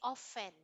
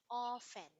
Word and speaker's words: often: this awesome you say often often all friends the t is silent it's not often often